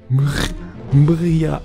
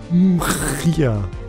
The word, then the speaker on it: Mriya: Mriya. Wie spricht man das aus? Direkt ein R an das M hängen. Mriya.